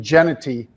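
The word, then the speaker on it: Jeanty: off as to this fantastic running back, Ashton Genety, or Genty. Is that how you pronounce it, Pete? Genty, yep.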